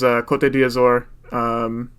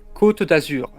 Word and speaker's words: Côte d'Azur: Côte d'Azur. Okay, yeah. I pronounce it more like it's Spanish because I look at it and I'm like, that looks more Spanish to me.